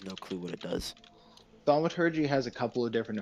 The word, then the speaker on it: thaumaturgy: Emiology? I don't know how to pronounce that. Oh, thaumaturgy?